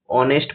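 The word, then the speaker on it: honest: তো চলো নেক্সট কোশ্চেনে দেখো, কোশ্চেন নাম্বার 12 বলা হয়েছে, শি ইজ অনেস্ট politician which is rare these days. এখানে দেখো অনেস্ট, আবার সে অনেস্ট শব্দটি এসেছে, অনেস্টে এইচ কি থাকে? সাইলেন্ট থাকে, এবং অনেস্ট এর প্রোনাউন্সিয়েশন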